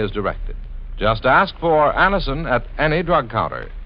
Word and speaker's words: Anacin: Just ask for Anacin at any drug counter. It's spelled A-N-A-C-I-N.